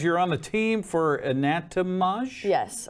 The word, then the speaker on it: Anatomage: says um okay HOSA tell me how to pronounce this ananat anat it says you're on the team for anatomage yes anatomage okay all right so what is that so